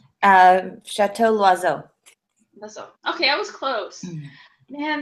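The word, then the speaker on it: Château L'Oiseau: going with today was Chateau Liesseau. Did I say that right, Michelle? Let me see. I'm trying to learn French. It's spelled L and then a little apostrophe OISEAU. Chateau Loiseau.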